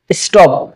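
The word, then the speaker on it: stop: হ্যাঁ আচ্ছা, এস এর পরে যদি আপনার টি থাকে তাহলে সেটার উচ্চারণ কেমন হবে, ঠ এর মতো হবে না, ট এর মতো হবে। স্টপ, কি হবে স্টপ স্টপ।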